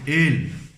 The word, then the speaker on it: el: A letra L em espanhol nós pronunciamos ele, mas na hora de falar nós temos que usar a língua no céu da boca.